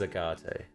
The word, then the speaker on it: Agate: I've heard it pronounced 4 different ways from people. Yeah, I don't think you answered, though. It is Agate.